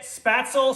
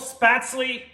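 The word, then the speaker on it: Spätzle: it doesn't matter how you say it spatzle spatsly i'm gonna show you how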